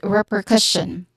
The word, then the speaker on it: repercussion: Okay, so this is repercussion. Again, repercussion. The syllable stress is on first syllable and third syllable.